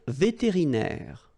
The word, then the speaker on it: vétérinaire: Okay, then un vétérinaire. Remember, accent aigu will give you this E sound. Vétéri, and then here it's open.